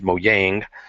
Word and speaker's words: Mojang: I guess in Swedish you would say it as Mojang, but we'll just go with the English pronunciation for now.